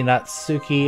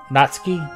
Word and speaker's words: Natsuki: what was her name not spooky not sookie or natsuki not spooky it rhymes better with not spooky sorry oh come on